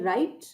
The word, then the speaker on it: write: ये वाले शब्दों में W साइलेंट होता है, यानी W की आवाज व करके आवाज नहीं आती। मतलब इसकी आवाज ऐसी है एज इफ W है ही नहीं, सिर्फ RITE होता तो आप इसको राइट पढ़ते, ROTE होता तो आप इसको रोट पढ़ते।